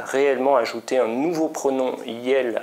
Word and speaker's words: iel: à la fois un on le prononce yel et on va voir